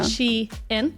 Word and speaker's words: Shein: Only discovered recently it's Shein. Oh, I thought it was Shein. Yeah. I've been saying it wrong my whole life.